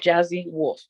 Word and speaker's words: Jhazzy Wolf: It's Jhazzy Wolf, Jhazzy Wolf. So Jhazzy, but it's pronounced Jhazzy Wolf.